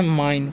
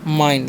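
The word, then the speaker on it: mine: तो इसे पढ़ते हैं माइन क्या पढ़ते हैं माइन लास्ट वाला ई का उच्चारण नहीं करना है और आई का उच्चारण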